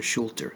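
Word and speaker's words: Schröter: Picture Schulter, that's how you pronounce it.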